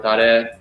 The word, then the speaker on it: tare: My master in Japan has like a 35-year-old tare.